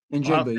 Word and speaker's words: Njigba: Njigba, yeah.